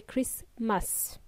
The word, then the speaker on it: Christmas: happy by the way Christmas is pronounced with a silent T we don't pronounce the T in that word Christmas we say christas and uh guys if